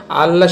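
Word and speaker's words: الله: আর যখন আল্লাহ শব্দের তাজদিদের ডানে জের আসবে তখন আল্লাহ শব্দের লামকে লা করে পড়বেন। জাস্ট এতটুকু নিয়ম মনে রাখতে পারলে আপনি আল্লাহ শব্দটি শুদ্ধভাবে উচ্চারণ করতে পারবেন।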